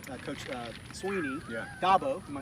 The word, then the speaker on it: Dabo: Dabo, am I saying it right?